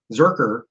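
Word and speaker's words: Zircher: um i mean even you know uh patrick zurcher zerker on uh tarna did i say it right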